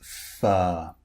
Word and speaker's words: fur: in all the cases, the R is unpronounced because the R comes before a consonant. Okay, a consonant sound or it comes at the end of a word like fur. F U R. Fur.